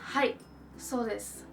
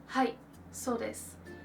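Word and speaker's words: はいです: said hi s this I'm not really pronouncing the U that is kind of at the end of that word and a lot of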